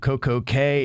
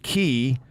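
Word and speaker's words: CocoCay: The proper pronunciation of Coco K is not key. The RCCL slogan is enjoy a perfect day at Coco K.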